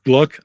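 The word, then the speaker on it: Glück: Gabriella Mistral, the Hispanic poet, Louise Glock, of course, and and Luis. I gluck. I think I pronounce it gluck. I think in German it would be glook, but uh at least it's not Glock.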